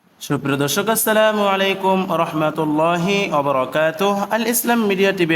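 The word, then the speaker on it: السلام عليكم ورحمة الله: সালাম দিতে হবে সালামটি শুদ্ধ করে শিখে নিন আসসালামু আলাইকুম ওয়া রাহমাতুল্লাহ আমি আবারো বলছি আসসালামু আলাইকুম ওয়া রাহমাতুল্লাহ বাংলা উচ্চারণ সহ দেওয়া আছে সালামের জবাবে এই দোয়া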